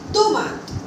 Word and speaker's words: tomate: Like, now you understood that letter T and D has a soft pronunciation. So you are supposed to use this in a softly way. For example, tu. Tu. Tu is you. Tomate.